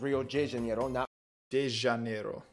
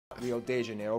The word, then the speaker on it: Rio de Janeiro: that's right it's pronounced rio de janeiro rio de janeiro get it right we're not in mexico this is portuguese not spanish this was done in